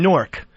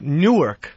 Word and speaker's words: Newark: He calls it He says I'm from Newark. N O R K. Yeah. How do you say it? Newark. Yeah. But he's like, I'm from Newark, New Jersey.